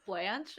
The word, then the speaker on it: Blanche: I like Blanche, actually. Blanche. Like Golden Girls. Maybe that's how I was just pronouncing that name. Yes, it's Blanche, but pronounced Blanc.